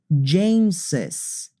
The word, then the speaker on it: James's: office is a spacious jameses for Charles for example you say Charles's imagine it's JZ you say Jess's office we need to pronounce the second s but you don't need to write it you can if you